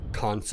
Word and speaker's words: Kant: There's everything from survival manuals to the collected works of Shakespeare and Kant's ethics. Well, don't look at me, that's how it's pronounced in German.